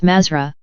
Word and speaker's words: Mathra: Mathra is the password for those of 4th degree, which they pronounce Mazra, and which is the lost word for the black magicians.